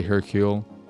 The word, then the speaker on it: Hercule: game I was like oh it's not Hercules Hercule or rot I I wouldn't have